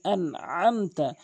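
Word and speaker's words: أنعمت: এরপরে আনআমতা, অধিকাংশ লোক আনআমতা এভাবে বলে। আইনটি উচ্চারণ করে না, আইনের জায়গায় হামজায় এনে উচ্চারণ করে। আইনের জায়গায় আইন উচ্চারণ করতে হবে হলকের মাঝখান থেকে।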